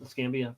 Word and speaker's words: Escambia: It's the Scambia County is what it's called. Escambia. Pensacola, Florida. Escambia.